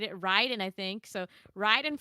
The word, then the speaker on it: Raiden: Ryden I think so Ryden from medle Gear Solid is how you say it correctly because it's a Japanese name Raiden in Mortal Kombat sounds the way it does cuz Ed Boon